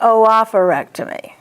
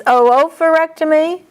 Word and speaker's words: oophorectomy: And it is okay to say oophorectomy, as long as you pronounce both O's. It's oophorectomy, oophorectomy.